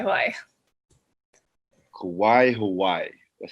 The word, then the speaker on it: Kauai: Yeah, we're in Kauai, Hawaii. Kauai, Hawaii.